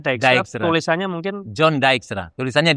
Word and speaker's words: Dijkstra: Bacanya Dijkstra.